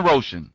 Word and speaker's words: Roshan: Roshan. Oh, okay. So like Ocean Roshan.